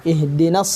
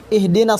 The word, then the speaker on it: اهدنا: Ihdinas siratal mustaqim. Bagaimana cara membacanya hamzah wasal dan hamzah qata? Ihdina, i-nya tidak dibaca ketika diwasal oleh ayat sebelumnya atau disambung ayat sebelumnya, maka i-nya tidak terbaca.